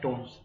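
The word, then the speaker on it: Tonse: इसका है right answer विनय तोनसे, या इसका प्रोनाउंसिएशन है विनय टोन्स।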